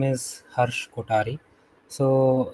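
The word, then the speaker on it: Harsh Kothari: today and yeah hello everyone my name is Harsh kotari so so it's not har uh har as it's mispronounced uh so I don't blame you and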